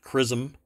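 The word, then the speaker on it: XRISM: the X-ray Imaging and spectroscopy Mission or uh X rism pronounced crism um will launch at 9:30 a.m.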